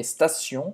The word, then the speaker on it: station: Se escreve assim em francês, não tem o E no início da palavra, não é estação, é station.